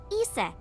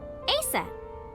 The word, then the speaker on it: Isis: horse's mom is named isis but in ancient egyptian it's pronounced closer to isa or asa fair enough hmm how